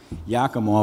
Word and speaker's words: Yakima: the drinking water of yakima which is supposed to sound like omaha they still can't pronounce